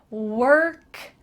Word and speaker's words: work: is a lovely word it has an O but it sounds like w eat our K work to get there together